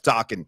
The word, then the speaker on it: Dokken: Dokken rhymes with rockin'.